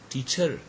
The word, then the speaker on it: teacher: the word for example a teacher teacher so the first syllable is stress but we usually we have heard many people say like that teacher so it's kind of